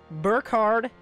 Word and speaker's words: Burkhard: Burkhard. His name is Burkhard. The K is silent.